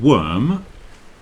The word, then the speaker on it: worm: rhymes with curled and worm rhymes with term so you see when